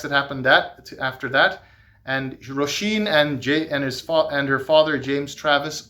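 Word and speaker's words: Róisín: I know it's pronounced Roisin because the book says so.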